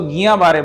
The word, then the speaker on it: Guillain-Barré: जिसका नाम है जीबीएस गिलन बारे सिंड्रोम इसको वैसे तो गिया बारे बोलते हैं लेकिन जो उसकी स्पेलिंग है उसके चलते इसको गुलिन बारे सिंड्रोम भी बोला जाता है ये बहुत ही